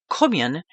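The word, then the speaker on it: Cóemgen: The Gaelic pronunciation of St. Kevin's name Kumian means fair begotten or of noble birth.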